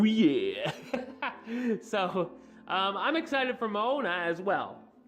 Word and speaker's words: Moana: Or Moana. I keep saying it wrong. I kept saying Moana. But it's Moana, I suppose. Not that it really matters, but I might as well get it right, right?